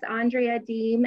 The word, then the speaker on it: Andrea Deem: And Dave, you pronounced my name correctly. I have a very non-phonetical name. So anytime somebody does that, it's extra kudos. My name is Andrea Deem.